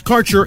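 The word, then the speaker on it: Karcher: Quality cannabis Insurance Services is spelled k a r c h eer that's carer insurance we have worked with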